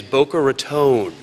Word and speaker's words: Boca Raton: but also to welcome you to my hometown, Boca Raton, in beautiful Palm Beach County, Florida. And yes, for those of you visiting us for the first time, the correct pronunciation of our fair city is Boca Raton, although we've heard every variation that's possible.